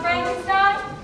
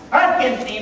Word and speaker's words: Frankenstein: Frankenstein Dr Frankenstein Dr Frankenstein that's frankinstein my name is pronounced frankinstein if you say so